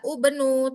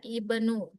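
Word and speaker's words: ابن: Jadi kalau ketemu dia bukan dibaca ibnu, bukan dibaca ubnu, tapi tetap dia ibnu.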